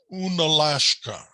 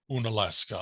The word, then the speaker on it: Unalaska: became russian lands and they tried to pronounce that word using russian letters and they made it sound like unalashka eventually russia sold alaska to america and we then tried to produce pronounce that word into english and we came up then with unalaska on alaska so that's the one